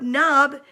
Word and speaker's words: knob: The word knob begins with the silent letter K.